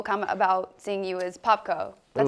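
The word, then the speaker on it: Popko: lot of people comment about seeing you as Popco. That's how you say it, right? Popco. Popco, yeah.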